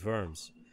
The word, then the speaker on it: Worms: Verdun, we drove all the way out there to meet my wife's friend who lives in Germany in Worms.